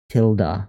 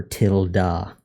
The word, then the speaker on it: tilde: Pronounced tilde or tilda.